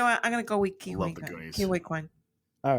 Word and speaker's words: Quan: man you know what I'm gonna go with kin all right you're changing your vote Yes I am ke are did I say it right kin yes okay so support actress in a supporting